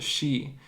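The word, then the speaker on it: sídhe: this the she it's written today but it's pronounced the she and joined them half in this world and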